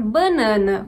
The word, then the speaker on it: banana: Então, por exemplo, eu falo banana, mas tem regiões em que as pessoas vão pronunciar banana, com uma nasalização também da primeira vogal, e tudo bem.